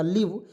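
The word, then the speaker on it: leave: आपको याद हो जाए एल ई एवी ई इसका उच्चारण हो जाएगा देखिए एल से ल लिखेंगे और ई ए आया उसको उच्चारण बड़ी ई के रूप में व से व हो जाएगा लीव लीव मीस होता है दोस्तों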